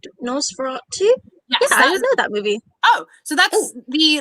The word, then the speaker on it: Nosferatu: now or something that you've seen recently ah nosferatu i have not watched the original nosferatu i